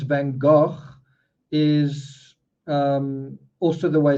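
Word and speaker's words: Van Gogh: like that right um in America notes van go that's not how I think van um said his own name um interestingly in France it's pronounced vangog right like that vangog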